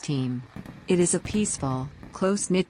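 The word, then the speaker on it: Eyam: But far from the smoky chaos of London, nestled in the picturesque peak district, lies the village of Bean, pronounced team.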